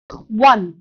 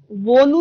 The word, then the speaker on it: won: এইটো কিন্তু won নহয় দেই ঠিক আছে won বা own এইটো pronounce নকৰে এইটোৱে সদায় pronounce কৰে one ঠিক আছে W-O-N সদায় one হয় wonu নহয় wanu ownu নহয় only one মনত থাকিবনে Okay.